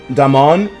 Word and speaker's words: Damon: And the name is pronounced like Damon, like Damon and Matt Damon.